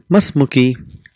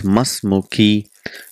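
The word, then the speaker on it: ما اسمكِ: Because it is hamzatul wasl, we don't pronounce the sound. That becomes masmuki.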